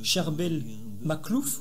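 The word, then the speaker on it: Charbel Makhlouf: Certains corps de saints qui sont restés parfaitement intacts, donc je viens de citer Saint Cherbel Maklouf, donc pour ceux qui souhaitent chercher sur Internet, c'est donc Saint Cherbel, comme ça s'écrit, C-H-A-R-B-E-L, plus loin, M-A-K-H-L-O-U-F.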